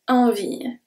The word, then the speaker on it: envie: Envie, the last E is not pronounced.